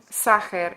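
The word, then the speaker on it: Sacher: a celebrity France sucker you pronounced it sucker in Hungarian his name evokes the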